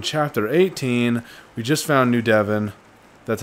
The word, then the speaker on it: New Devon: We just found New Devon. That's how you pronounce it.